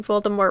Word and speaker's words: Voldemort: Apparently found to pronouncing Voldemort wrong for years. Rowling tweeted that the T at the end of Voldemort is silent.